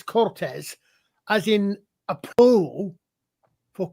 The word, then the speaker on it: Cortez: Well, the thing is in Spanish a Z is pronounced like an S.